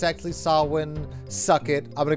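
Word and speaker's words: Samhain: nerdy thing like what they refer to as Sam Hayne as the lord of the undead uh refers to a holiday or a tradition called sawin which is how you actually pronounce that because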